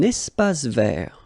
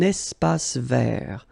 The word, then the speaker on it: espace vert: Un espace vert. First thing, you've got this little link between the two. Un espace vert. Final not pronounced, and then final T not pronounced. Un espace vert.